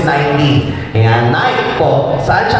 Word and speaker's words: Nike: Yung pronunciation sa Google is Nike.